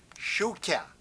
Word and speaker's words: Shuka: Shuka. You can spell it like it sounds.